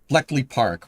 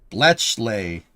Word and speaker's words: Bletchley: Bleckley Park, World War II Enigma code breaking. Oh, Bletchley. Bletchley.